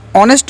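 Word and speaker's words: honest: एक साइलेंट रहता है और इसका प्रनंसीएशन ऑनेस्ट होता है इसलिए इसका फर्स्ट लेटर की साउंड वह बल्कि होने की वजह से इसके पहले इनका प्रयोग करते हैं उसी तरह से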